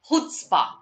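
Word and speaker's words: chutzpah: to refute the assertion now this word is pronounced as hootsba i'll repeat this this word is pronounced as okay love him or hate him you can you have to admire him for his hootsburgh all right is silent here absolutely correct okay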